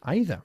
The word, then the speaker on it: either: Either. O Either. aida. Muy bien. Aida o ida. Es igual.